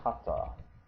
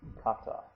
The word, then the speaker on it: kata: to look at is form and that is pronounced Kata Kata and the coni for that looks like this